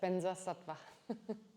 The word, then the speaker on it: Vajrasattva: Like there are mantras that have the words Vajra in them, but the Tibetans pronounce it Benzai. I don't know why. Benza, Benza. So Vajrasattva is Benza Sattva.